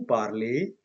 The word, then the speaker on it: parle: parle, nous parlons, vous parlez, il parle. So when I speak the verb with the subject je, tu, il plurial, I do not pronounce the endings. Okay, I just say parle, parle, parle, parle.